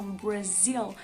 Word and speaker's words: Brasil: Quanto à pronúncia, aquele R é sempre pronunciado como se fosse caipira, né? Então, Brasil. E o L é um dark L, ou seja, pronunciado lá no final, lá no finalzinho da nossa boca, né? Do céu da boca, Brasil.